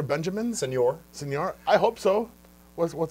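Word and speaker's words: Señor: You said senior, like a citizen.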